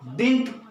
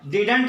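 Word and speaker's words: didn't: डिड नॉट को डिंट, यहां पर मैंने कॉन्ट्रैक्शन फॉर्म में लिखा है, इसको डिंट पढ़ा जाता है, डिडंट नहीं पढ़िएगा। डिडंट गलत उच्चारण है, इसको डिंट बोलना है।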